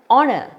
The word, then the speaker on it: honor: wavel sound an orange third example an honor though you have H here it is silent here you get the